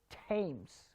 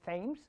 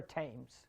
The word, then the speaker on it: Thames: thomas so the river tames okay it's not river of thames it's river tames okay remember whenever th